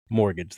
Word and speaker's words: mortgage: Mortgage. The T is silent.